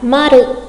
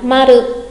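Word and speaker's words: まる: là dấu tròn và đọc là maru. Đọc cho mình nào, maru, maru. Dấu tròn đúng người ta gọi là maru.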